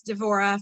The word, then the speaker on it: Devorah: you don't get confused first of all devorah is sometimes spelled deborah in hebrew it's devorah for me it rolls off my tongue that way more easily so that's the way